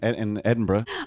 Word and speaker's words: Edinburgh: If you're having any confusion about the pronunciation of Edinburgh, here it is. I was doing a play actually in Edinburgh.